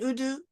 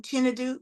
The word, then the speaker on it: Chinadu: I'm now going to welcome Apostle Innocent Udu. I'm saying it wrong, Chinadu, Apostle Chinadu.